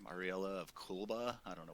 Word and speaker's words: Ariella: They focused a lot on Ariella. That's how you say her name, Ariella of Kulba.